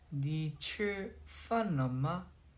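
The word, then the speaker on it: 你吃饭了吗: 여러분들 그 중국어로 방금 리치팔로라고 올려 주셨는데 정확한 발음을 알려 드릴게요. 니츠 판마 이거예요.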